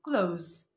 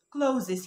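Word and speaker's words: clothes: قلت لها حبيبتي دي نطقها كلوز كلوز مش كلوزز يا سلمى، كلوز كلوز.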